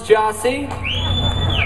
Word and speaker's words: Gyasi: We are also collectively known as Gyasi. It's spelled G-Y-A-S-I.